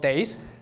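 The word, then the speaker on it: DASE: we developed something called days d a s e is basically the MVC for machine learning but I find it sound much better than MVC right days you can pronounce it MVC you can't pronounce it um so d d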